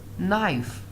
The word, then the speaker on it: knife: We pronounce it like knife.